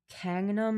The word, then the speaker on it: Gangnam: It's pronounced Gangnam, not Gangnam.